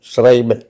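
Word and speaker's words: schreiben: അർത്ഥത്തിൽ ക്രാക്ക് എന്നുള്ള അർത്ഥത്തിലാണ് letters S സി H together it ഹാസ് A sound of Shah for example tribal S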